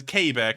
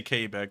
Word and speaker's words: Quebec: or wait a minute as k back i'm sorry let me say k back that's actually the right way to pronounce it but we've always wanted